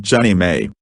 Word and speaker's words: JNMA: They sanctioned the proposal, and the non-profit Jefferson National Expansion Memorial Association, JNMA, pronounced Jenny May, was formed.